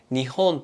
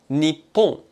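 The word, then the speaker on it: 日本: この漢字は実は読み方が 2 つあって、日本と日本です。どちらも正しくて、日本人も喋っている人が好きな方の読み方を使っています。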